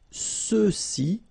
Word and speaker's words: ceux-ci: Same thing with the feminine form, celle-ci, celle-là, alright, and then for the masculine plural, ceux-ci, okay, remember final X is not pronounced, so you get the sound ce, ceux-ci, and then ceux-là.